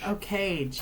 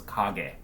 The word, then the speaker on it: Kage: US Legend of k-a-g-e-a-cage a cage yeah my favorite video game character that's not how you pronounce it in Japanese you pronounce kage and so this is